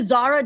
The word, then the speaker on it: Zara: like the guardian yeah zara like the clothing store actually funny story about